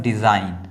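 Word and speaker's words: design: ये लिखा हुआ है डिज़ाइन, तो यहाँ पर देखिए एन से पहले क्या आया हुआ है? जी आया हुआ है, तो ये जी जो है वो क्या हो गया? साइलेंट हो गया। जी जो है बिल्कुल वो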